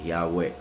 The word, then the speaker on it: Yahweh: Las 4 letras, como dijo Josefo, se pronuncian como 4 vocales, y esas 4 vocales serían la I, la A, la U y la E, Yahweh.